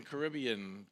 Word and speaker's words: Caribbean: you could watch the Caribbean Caribbean carnival carnival carnival yeah I had the emphasis on the wrong syllable nice so why don't